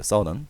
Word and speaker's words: southern: 사우스에다가 ERN 붙여서 발음은 사우스가 아니라 southern이라고 바꿔요. southern. 남부의 프랑스로 이사 갔고 and found 설립했습니다.